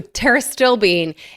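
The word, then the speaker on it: pterostilbene: of terbine okay so teris still Bean is spelled with a PT you know like pterodactyl so one of my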